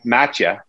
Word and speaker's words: Mattia: Maybe Matcha. I keep asking him and then I forget how to say it. Matcha. Matcha. M-A-T-T-I-A. Matcha. Right? Matcha. That's how they say it in Malta.